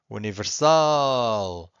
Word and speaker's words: universal: ends with an L if the word ends with an L you have to stress the final syllable okay Universal or individual this one